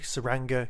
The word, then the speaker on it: Tsuranga: this time talk about the Saranga conundrum why there's a silent T and it is beyond me but you know what